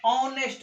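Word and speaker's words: honest: अब देखिए ऑनेस्ट मैन, ऑनेस्ट, ऑनेस्ट का उच्चारण लिखिएगा, शुरुआत तो हुआ है वॉवेल से, कॉन्सोनेंट से, लेकिन उच्चारण करने पर क्या आ गया? स्वर वर्ण आ गया, तो स्वर वर्ण आने के कारण क्या लगेगा?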